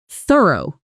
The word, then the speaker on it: thorough: The tricky part here is that t sound at the beginning, which in English can be either a soft, breathy sound, like in think, or a voiced, buzzing sound, like in this. In thorough, it's the soft one, made by placing